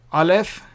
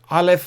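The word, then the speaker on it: א: Now, these two letters are silent, as I said, aleph and ayin. Unless there is a vowel, they are silent.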